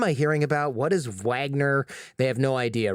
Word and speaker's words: Wagner: private military force called Wagner and we say Wagner because that's how they say it it's you can say Wagner it's the same thing and the other name